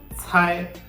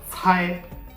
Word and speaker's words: cai: Okay, the first was C should be pronounced like the TS at the end of tests, and the other aspect was that we should ensure that air is coming out of our mouth.